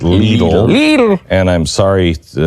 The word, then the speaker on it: Lidl: to tell me that the grocery store of little is pronounced leader and I'm sorry -